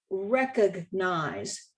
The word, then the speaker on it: recognize: The same is true with the word recognize. We typically drop that G in Texas and say recognize.